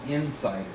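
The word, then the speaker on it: inSSIDer: lynxus and basement now this is called insider it's spelled i-n-s-s-i-d-e-r pretty clever and the ssid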